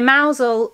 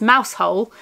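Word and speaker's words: Mousehole: Harbor at sunset um so mousel or if you are not from Cornwall or don't know how to pronounce it it is mouse hole um but mousel is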